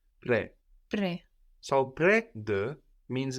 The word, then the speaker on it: près: Près de. Like present. Près is spelled P-R-E-S. Près.